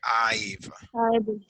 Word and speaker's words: I've: We say I've. We have to pronounce. I have, I've. If you don't pronounce I've, it's like if you say I, solamente yo.